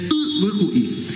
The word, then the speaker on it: Ibicuí: En el guaraní la i griega es no i. Por eso ustedes pronuncian más ibicuí, es ibicuí. Y también ibirapitá es ibirapitá.